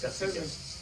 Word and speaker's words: Katsikias: So we are going to start in this order, and I'd like to introduce Kostas Katsikias. Did I pronounce it correctly? It's okay, it's Facebook. Close. Katsikias. Kostas Katsikias. Katsikias.